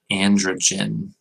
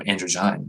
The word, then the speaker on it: androgyne: Looks like it's androgen, I think. Hang on. Androgyne. Oh, androgyne. Okay.